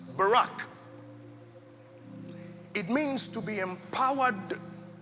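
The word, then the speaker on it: בָּרַךְ: The word translated there as blessed is a Hebrew word pronounced barack.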